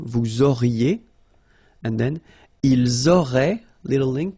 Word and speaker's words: auraient: Vous auriez, little link between the two, vous auriez, and then, ils auraient, little link, but then look, A-I-E-N-T like that, and you only pronounce E, like we had here.